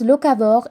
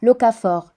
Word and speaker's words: locavore: En fait, ça se prononce locavore et pas locafort. Je me suis trompée.